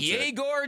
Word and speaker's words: Yegor: That's how you pronounce it. Yegor Jomin.